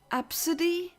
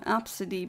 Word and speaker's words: Abcde: are legit called AB CDE e but it's pronounced AB absidy why would would you call your child AB B CDE e even if it's pronounced apparently pronounced as um absidy but why punish your child like this and